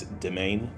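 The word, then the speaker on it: demesne: That's how you pronounce the that word, D-E-M-E-N-S-E, in case you're wondering. It's domain.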